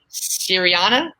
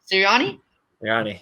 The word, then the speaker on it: Sirianni: I can never pronounce his name, but the new coach for the East, Nick Sirianni. Sirianni, yeah, you got it.